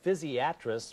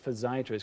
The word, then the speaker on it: physiatrist: That's the correct way to say it. Physiatrist. We try not to say physsiatrist because that sounds too much like psychiatrist. And you know, Scott, we're kind of like the Ronnie Dangerfield of medicine.